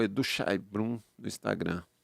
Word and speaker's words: Szajnbrum: Chainbrum.